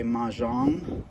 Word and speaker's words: Mahjong: A couple of my friends talked about wanting to play Mahjong, I think is how you pronounce it.